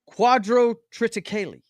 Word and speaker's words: quadrotriticale: Quadrotriticale. Yeah, that's how it's pronounced.